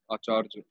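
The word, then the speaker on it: আচার্য: In Bangla, they'll pronounce it as acharjo.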